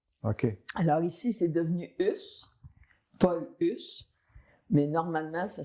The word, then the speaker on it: Hus: Et je vous dis tout de suite, on prononce ici le S Ouais. comme on prononce toutes les finales pour que le notaire puisse bien écrire À l'époque. à l'époque. OK. Mais en France, c'est U.